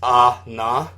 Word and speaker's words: Anna: And it's spelled that way in the promotional materials, but the kana for it is ah-na, which...